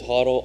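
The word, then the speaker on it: HODL: it you know what everyone on the scene BC and such says huddle I say hold it's not in the dictionary yet so it's hold yeah yeah right it's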